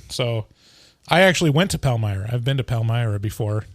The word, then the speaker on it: Palmyra: palmyra is that how you say it yeah palmyra new york yo palmyra new york and that's